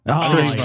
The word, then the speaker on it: Trayvon: Trayvon.